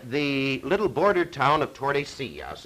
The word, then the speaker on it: Tordesillas: So, early in the next year, 1494, they gathered together in the little border town of Tordesillas. It's spelled just like it sounds.